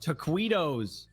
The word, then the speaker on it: taquitos: It's pronounced taquitos.